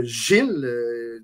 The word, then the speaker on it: Gilles: Il y a également le personnage qui s'appelle Gil, ou Gilles, dépendamment comment les gens vont le prononcer, mais Gil Piquette, qui est aussi celui qu'on appelle l'exterminateur là-dedans, qui est le boxeur, en fait.